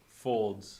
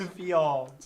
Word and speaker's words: Fields: Oh, you pronounced it like he typed it. Folds. Who's getting Folds? Fields.